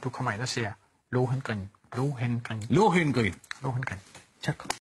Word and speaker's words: Lohengrin: gå ind og se Lohengrin? Lohengrin? Ja. Udtaler du det med H? Ja, Lohengrin. Lohengrin? Ja. Gør tyskerne det? Ja, det gør de, ligesom jeg også siger Wagner. Nå, okay, godt. Lohengrin.